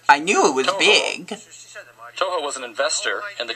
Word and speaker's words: Toho: Toho almost rhymes with Ho.